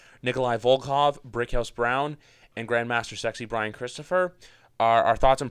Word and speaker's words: Grandmaster Sexay: Well, say it right, Griff. It's Grandmaster Sexay.